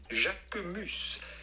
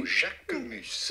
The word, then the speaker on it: Jacquemus: Jacquemus. Jacquemus. Of course, in French, the sound of the letter U is not OU, but rather U. So Jacquemus.